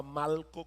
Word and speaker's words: Malco: sabemos que se llamaba Malco, y no estoy pronunciando Marco mal, es que se llamaba Malco con L.